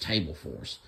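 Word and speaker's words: Terbufos: There's this turbofus. It can be pronounced table force, but it's spelled T-E-R-B-U-F-O-S. Sometimes it's pale yellow or yellow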